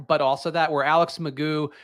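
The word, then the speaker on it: McGough: So it was bad luck, but also that where Alex Magoo, his name apparently is Magoo, despite being spelled like Mago, which really threw me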